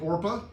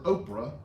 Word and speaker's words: Orpah: the official story that people could never pronounce her name and they kept getting it mixed up and they called her oprah instead of orpah her mother named her